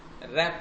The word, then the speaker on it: wrap: लेकिन रैप टैक्स लिखा, WRAP, W silent चला, कुछ हमने मैटर लिखा,